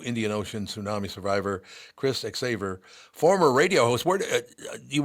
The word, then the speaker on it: Xaver: Chris xaver cor yep it's xaver like Lifesaver marvelous but the other